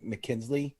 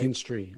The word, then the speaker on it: McKinstry: The hottest pickup right now in the waiver wire is this kid from the LA Dodgers, is Zach Mckinsley. Did I say it right? Mckinstry, I think.